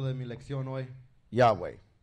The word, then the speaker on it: Yahweh: me let you annoy Yahweh Yahweh and that's how you would say it in English seamless Spanish let's find